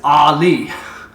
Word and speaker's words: Eli: And Eli is Ali. It's like Muhammad Ali.